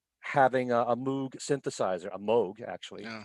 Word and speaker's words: Moog: um and then having a moog synthesizer a moog actually pronounced a new instrument with an old-style song